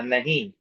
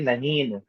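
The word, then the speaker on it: نہیں: Nahi. We don't say nahin. Kaha. We don't say kahan. Okay. You would have noticed that noon in the above words does not give its full sound.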